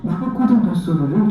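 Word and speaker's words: Nabucodonosor: 오페라 제목인 나부코는 바벨론 왕 느부갓네살의 이름의 이탈리아식 발음은 나부코도노소르를 주인 이름입니다.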